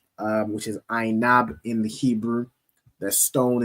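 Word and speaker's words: ענב: The symbol is pronounced as Ainab in the Hebrew.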